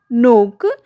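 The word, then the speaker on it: knock: दिया तो गया है, but when we pronounce it के इज ड्रॉप्ड हियर।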